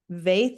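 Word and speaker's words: Vaeth: Vaith, V like Victor, A-E-T-H. A-E-P-H. T as in Thomas, H. V-A-E-T-H. Correct. Rhymes with faith, spelled a little different.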